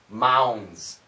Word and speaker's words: mounds: mouse like Mickey Mouse Mounds Mounds the n and the S are going to cancel the D and we get a D sound a z sound Mounds mounds of mounds